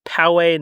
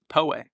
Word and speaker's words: Poway: to say it but it is Powe not Poway poay we get a lot of Poway